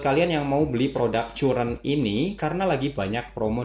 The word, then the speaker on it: Curren: bingung juga sih Ya ini dibacanya sebenarnya current Karen Karen atau Quran tapi kemarin gue sempet nanya ke official sopnya dan Katanya sih dibacanya current aja jadi ya Oke ini